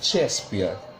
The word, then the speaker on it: Shakespeare: Se escribe Shakespeare, pero se pronuncia Shakespeare.